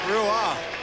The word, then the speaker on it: Roy: Still looks like Patrick Roy to me. Yeah. But he's certainly... I thought Roy was R-O-I. But you did. Well, I would say that would be the pronunciation of spelling.